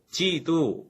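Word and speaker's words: 基督: 한자 부 똑같이 쓰더라구요 중국 사람들은 예수 그리스도를 자기네 말로 예수 기도 라고 부르는데요 죽 사람들의 글이 쏘 라는 말을 발음하기 어려워 하거든요 그래서 자신들이 말하기 편한 발음으로 그리스도 라는 말을 지도 라고 받고 불렀습니다 이 지도가 우리가 키 독이라고 잃는 한자 단어의 중국식 발음 입니다 100년전에 조선의 선교사님들이 들어왔을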